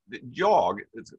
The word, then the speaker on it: jag: Another thing is when you have jag, that is I, you generally don't pronounce the G.